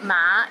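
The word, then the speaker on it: 馬: word or sentences too for example ma in the first tone means mother while ma in the fourth tone means linen and ma in the fifth tone means horse don't get them mixed up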